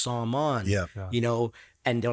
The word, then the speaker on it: Saman: I couldn't even recognize my name because in Farsi or Persian it's pronounced Saman.